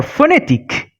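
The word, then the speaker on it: phonétique: But as for phonetic, we can see after the combination ON comes a vowel, E accent aigu. That's why we are not going to pronounce the nasal sound on, but we are going to pronounce the N as it is.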